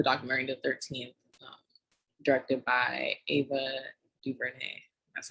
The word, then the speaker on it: Ava DuVernay: So today we're gonna do a breakdown of the movie, the documentary The 13th, directed by Ava DuVernay.